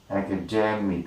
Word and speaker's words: academic: Okay, academic transcription, academic, right? Mic. Okay, academic. It is academic, right? Demic, right? This is the most syllable, right?